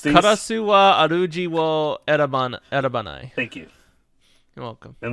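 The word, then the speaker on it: 烏は主を選ばない: Karasa wa ajiru wo erasabu. I don't know why I'm attempting to even pronounce these. Karasu wa aruji wo erabanai.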